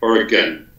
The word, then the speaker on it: Oregon: So Oregon is spelled O-R-Y-G-U-N, like Oregon. Like gun. And if you say Oregon like a gun, Oregon, not quite that bad, but if you say gone like I'm gone, yeah, then they know you're not from Oregon. Okay. So you got to swallow the gun.